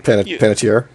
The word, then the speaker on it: Panettiere: I can't fucking pronounce her name. Panettiere?